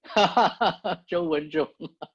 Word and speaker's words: Zhou Wenzhong: First of all, you pronounce his name perfectly. Zhou Wenzhong.